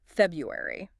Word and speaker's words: February: February. What's the catch with this one? Oh, it's that sneaky R. The R. Yeah, the one in the first syllable.